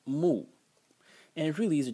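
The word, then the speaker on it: 木: character can be written like this and it's pronounced moo and it really is a tree it's a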